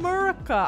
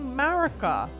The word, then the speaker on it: Marika: I'm not saying Murica, I'm saying Marika.